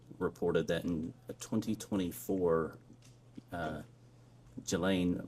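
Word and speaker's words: Ghislaine: that in 2024 uh Gilain Maxwell or Gileain I think is how it's pronounced arranged and wired uh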